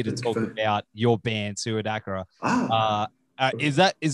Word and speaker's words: SuidAkrA: band i pronounce like swedagra like suicide and dark yeah yeah yeah yeah